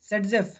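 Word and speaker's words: Zaitsev: Russian chemist Alexander ज़ेटसेव, also pronounced as सेटजेफ।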